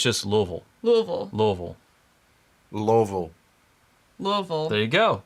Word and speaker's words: Louisville: your mouth this little pretend you've been to the dentist and they've put some novocaine in there and just try not to open your mouth very much or like Louisville versus like Versailles what